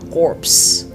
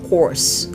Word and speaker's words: corps: de vous avez également cor le plus populaire c'est souvent pe cor pe cor ok c'est pas corpse c'est pas corps cor tu vas améliorer